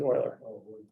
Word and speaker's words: Euler: It's Euler.